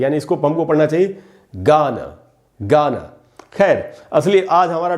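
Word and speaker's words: Ghana: इसीलिए दोस्तों इसका करेक्ट प्रोनाउंसिएशन होगा, यहाँ जी से ग ही होगा, ये होगा गाना, गाना, न कि घाना।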